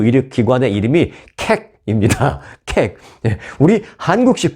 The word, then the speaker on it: Keck: 캑. 우리 한국식 발음으로 하니까 저도 뭐 좀 늘 불편합니다.